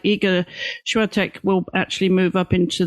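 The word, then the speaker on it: Świątek: And I think the rise of Iga, and I learned how to pronounce her last name yesterday, Swiatek. Swiatek. Yeah, I think the Polish say but we say Swiatek. So Swiatek, I think, is good enough.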